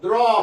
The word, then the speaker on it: draw: 예를 들면요, 영어로 draw 하면 뭐냐? draw 하면요, 그리다 그런 뜻이죠. 요거 할 때 발음 기호가 이겁니다. draw. AW가 이거 할 때 draw도 아니고 draw도 아니고 draw 그래. draw.